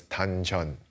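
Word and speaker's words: 단전: Now, in Chinese, this is called dan tian, and in the Korean pronunciation, that's dan chan.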